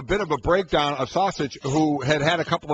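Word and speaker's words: Šašić: woman whose name is pronounced just like sausage sausage it's all night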